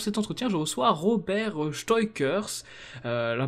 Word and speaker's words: Steuckers: Ah ben ça dépend à qui je m'adresse. Si je m'adresse à un compatriote francophone, je dirais Steukers. Si je m'adresse à un néerlandophone, Steukers.